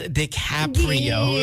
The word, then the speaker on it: DiCaprio: His name is pronounced DiCaprio.